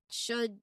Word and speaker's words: should: So even though they are spelled with an L, when we say them, L is completely silent. We pronounce them as could, should, and would, not cold, wold, and should.